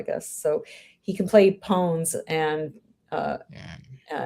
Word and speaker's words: pwn: Oh, now so we had this discussion yesterday about how to pronounce this word pwn. I should be pawn, isn't? Yeah, they said it's like own because it's a misspelling of own for some reason and became went viral, I guess.